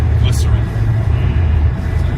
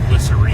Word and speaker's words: Glycerine: Glycerin. That's a Bush song. Yes, it is. But it's pronounced glycerine.